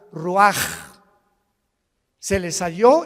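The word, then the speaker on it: רוח: Se pronuncia la ch en hebreo como J. Roaj, se le halló y se traduce espíritu.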